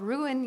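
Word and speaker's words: rune: we're doing it's called ruin your day Fiesta and ruin is spelled r-u-n-e because I happen to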